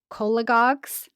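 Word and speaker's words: cholagogues: So cola like C O L A. And then goss but with a G.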